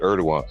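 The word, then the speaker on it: Erdoğan: Turkey oh co ER erdogan yeah I they pronounce it erdogan but I thought you were talking about the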